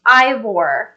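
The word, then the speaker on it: Eivør: definitely do that okay Steve thank you it's pronounced Ivor okay thank you for clarifying that she's from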